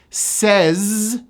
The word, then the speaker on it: says: This word ends with a voiced Z, says, she says, but in this sentence it turns into an S.